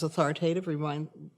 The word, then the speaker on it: authoritative: One of the ways you remember that, by the way, is authoritative rhymes with creative, and authoritarian rhymes with barbarian.